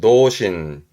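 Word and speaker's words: 童心: 발음은 도신.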